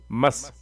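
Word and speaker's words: مَص: मस। इसको कैसे हिज्जे करेंगे? मीम स्वाद ज़बर मस, मस, मस, सीन नहीं, मस।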